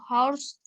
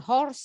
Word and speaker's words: hours: Salma cannot go to market 2 hours later. Salma cannot go to market 2 hours later. Next. Hours, bukan horse, salah Hour.